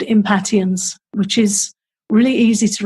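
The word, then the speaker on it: Impatiens: really helpful is called impotence which is really easy to remember what it's for because to me it sounds a bit like impatience and here in the states it is pronounced impatience oh it is oh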